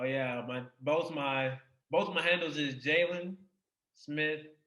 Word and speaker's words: Jalen: Oh yeah, both my handles is Jalen Smith 3. That's JALEEN Smith 3. And it's pronounced Jalen, not Jaleen.